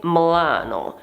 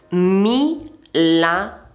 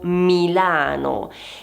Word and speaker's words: Milano: spesso è, ad esempio, la pronuncia di Milano come Mlano. Non è Mano perché abbiamo tre sillabe. Milano pertanto Milano. E la prima I va pronunciata perché non è mla No, non sono due sillabe, sono tre.